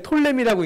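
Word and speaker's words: Ptolemy: 이 원문대로 읽지를 않고 왜 톨레미라고 있냐? 이게 앞에 P자가 붙어 있는데 원래대로 읽으면 프톨레마이오스인데 영어에서 이렇게 앞에 P자가 붙어 있고 뒤에 T가 나오면 P를 묵음으로 읽어요.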